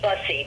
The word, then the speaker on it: Bussey: I want to pronounce it right. Tony Bussey, B-U-S-S-E.